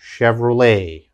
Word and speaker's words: Chevrolet: of course everyone knows this car company chevrolet chevrolet okay again chevrolet and the last one very difficult to pronounce uh this is a buffet buffet and